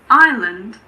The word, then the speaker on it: island: Unfortunately, there aren't really any rules here, but luckily there aren't that many words that have a silent S. Some of the most common ones are aisle, bourgeois, debris, island, and aisle.